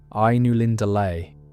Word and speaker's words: Ainulindalë: And you pronounce it more or less like Ainulindalë, though I have heard people say it differently, and I don't think Tolkien would have minded much.